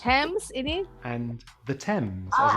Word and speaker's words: Thames: Sometimes the H is silent in TH, such as Thailand, time, asthma, commerce, Thames ini and the Thames, as in the river in sungai London.